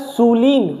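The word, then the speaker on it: sullen: सलन। अब देखो इसको आप पढ़ना। इसको जब आप पढ़ोगे तो क्या आ रहा है? सूलीन। क्या आ रहा है? सूलीन। लेकिन इसकी प्रोनन्सिएशन है सलन।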